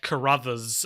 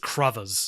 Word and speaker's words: Crothers: time for the podcast, and also learning that Carruthers is spelt that way and not what I'd assumed, which is some sort of like corduroy situation where it's like Carruthers. But it's not. It's just Crothers.